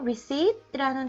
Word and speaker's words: receipt: 그리고 receipt라는 단어도 있는데요. 여기서 P는 silent sound 해서 묵음입니다. 그리고 강세는 두 번째 음절에 강세가 있어요.